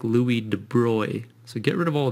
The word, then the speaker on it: Louis de Broglie: named louis de bruy now it looks like you pronounce this louis de broglie and that's what i always said i always read this and i said de broglie in my mind and i knew that wasn't right if you look it up